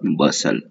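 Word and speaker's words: bustle: फिर है हसल बसल, यहाँ पे टी साइलेंट, इधर भी टी साइलेंट होता है, तो इसे कहते हैं हसल और बसल।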